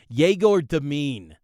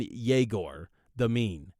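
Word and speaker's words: Egor Demin: can do with him jagor deine now that's that's the latest pronunciation I've been told officially by BYU on jagor the mean again again I want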